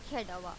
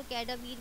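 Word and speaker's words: cadaver: हम कहते हैं ह्यूमन कैडावर। अच्छा, आप यहाँ पे इसकी प्रोनाउंसिएशन गलत नहीं करनी कि आप इसको कैडावीर बोल दें, नो, इट्स कैडावर। तो अगेन एंड अगेन आपने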